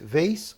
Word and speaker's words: vase: Você pode pronunciar com Z ou com S. Vase ou vase.